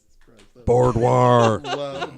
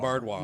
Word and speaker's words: boudoir: Boudoir. Boudoir. So wait, how do you say it? Boudoir. Boudoir. Boudoir. Yeah. Boudoir, not bard. Not Bardwar. Not, Bar- not Bardwar. Boudoir.